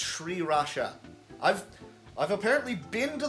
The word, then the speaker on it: sriracha: stuff also fun fact it's not pronounced sriracha it's sriracha i've i've apparently been